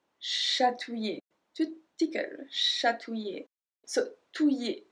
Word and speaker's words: chatouiller: Chatouiller. Chatouiller. To tickle. Chatouiller. So, touiller. Ouiller. Ouiller. So, we don't pronounce the L.